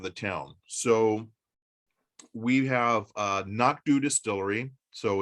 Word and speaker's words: anCnoc: And now we all know it's anCnoc from Knock Do. The name is very intimidating to read, but very easy to pronounce.